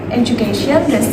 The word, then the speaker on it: education: And then the word education, the stress occurs on the third syllable in education.